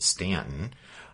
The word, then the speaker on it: Staunton: Stanton, and if you're looking on your map, it's spelled Staunton, but pronounced Stanton.